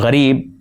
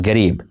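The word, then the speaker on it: غریب: Or gharib, meaning poor, is pronounced as garib.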